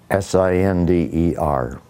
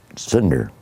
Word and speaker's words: Sinder: What's pronounce the last name for me? Sinder. Sinder.